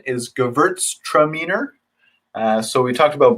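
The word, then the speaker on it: Gewürztraminer: mentioned at the beginning of class uh the pronunciation is gewurztraminer uh so we talked about burn castellar a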